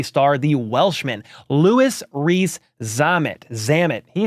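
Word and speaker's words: Louis Rees-Zammit: the former rugby star the Welshman LS Rees zamit zamit he says it he tells you how to pronounce it right here it's LS ree zamit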